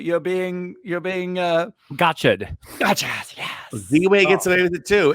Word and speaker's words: Ziwe: It's Ziwe, but it's Ziwe is how you pronounce it on Showtime, and run, don't walk